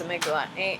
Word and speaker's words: amygdala: Hypothalamus, it goes amygdala. Amygdala is what it's spelled like.